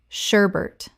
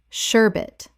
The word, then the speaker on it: sherbet: sherbet Common mispronunciation. sherbert Correct pronunciation. sherbet There is no second R. Many people insert one that simply does not exist in this word.